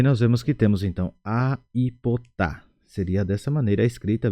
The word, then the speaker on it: aipota: Porque se eu fosse falar conforme o primeiro grupo, eu não usaria essa letra I. Então ficaria estranho a forma de pronunciar, ficaria apotar. Por isso usamos a letra I, aipotar.